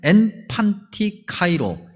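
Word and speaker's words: ἐν παντὶ καιρῷ: 우리말로는 항상이라고 번역되어 있는데 굳이 헬라어 발음으로 얘기하면 엔판티카이로, 즉 카이로스라는 시간의 개념이 이 안에 있어요.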